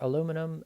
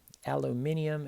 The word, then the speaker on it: aluminium: print out your own periodic table there for aluminum uh aluminium excuse me we have uh six of those